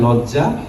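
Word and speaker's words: loggia: এল O double G আই A Italian শব্দের উচ্চারণটা হয় লজ্জা এই ছবিটা আঁকা হয়েছিল 1504 সালে মাথার উপর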